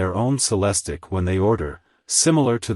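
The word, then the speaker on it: Celestiq: to order by hand celestic pronounced cellistic production will necessarily be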